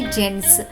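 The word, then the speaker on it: gents: పిల్లలు, ఈ పదం మనం చాలా చోట్ల చూసి ఉంటాం మరియు దీని ఉచ్చారణ అవుతుంది జెంట్స్. మీరు ఆలోచిస్తూ ఉండవచ్చు, మనం జి యొక్క శబ్దం ఘ అని నేర్చుకున్నాం, మరి ఈ పదం యొక్క ఉచ్చారణ గెంట్స్ ఎందుకు కాదు? పిల్లలు, ఒక నియమం గుర్తుంచుకోండి.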